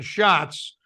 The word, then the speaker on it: Schatz: has so has uh Senator Schwartz shots um and so um look isn't just that uh Jean-Pierre butchered the names of the Senators that's Senator Maisie hirono and Senator Brian Schatz the the other problem